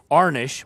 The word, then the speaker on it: Arnish: I think it was none other than Arnish. We've been corrected on the pronunciation.